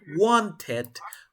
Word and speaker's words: wanted: Ed. Porque termina una T antes. ¿Cómo sería? Wanted.